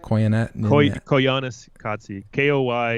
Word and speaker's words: Koyaanisqatsi: Koyaanisqatsi.